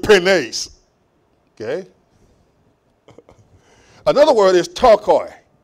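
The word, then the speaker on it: πτωχοί: Another word is tokoi. P-T-O-C-H-O-I. Tokoi. P is silent.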